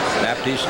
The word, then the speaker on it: Baptist: Baptiste in the red. Baptist is the way he wants to pronounce it, is 5'8".